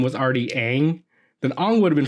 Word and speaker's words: Aang: If his pronunciation of his name was Ong, I would have been fine with it. Okay, that's fine. But in the animated show, it's been Aang the entire time.